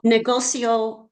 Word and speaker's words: negocio: negocio is the same thing, right? Negocio, yeah, negocio, sí, negocio. Ends in an O. So we look at the second to the last syllable, which is go, negocio, negocio.